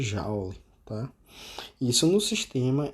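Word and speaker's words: joule: que é chamado de um Jauli ou Julie dependendo de como você queira pro se pronunciar tipicamente a gente chama de jaula tá isso no sistema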